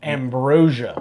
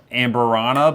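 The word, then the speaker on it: Amburana: This is finished in honey and I always pronounce it Ambrosia. No, it's not ambrosia. Amberana barrels.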